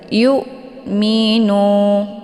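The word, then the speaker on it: يؤمنون: Wal yu minu, jangan wal yu mi ya, sehingga terbentuk ada suara wa gitu ya, yu. Tapi itu bacaan yang salah. Yang benar dibacanya secara tipis kemudian ditekan sedikit saja, yu minu ya.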